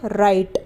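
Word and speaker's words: right: आई जी हा टी लाइट इस तरीके से राइट आर आई जी हा टी राइट तो इसमें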